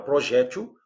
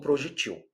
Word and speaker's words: projétil: Tanto faz falar, porque nós estamos diante de uma palavra de dupla prosódia ou de pronúncia optativa. Tanto faz você falar projétil como projetil.